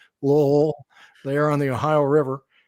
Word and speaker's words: Louisville: It's pronounced as one syllable, Lowell, there on the Ohio River.